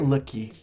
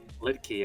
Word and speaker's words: Luetge: Is it Luetge or Luetge? Luetge. I was wrong the other day.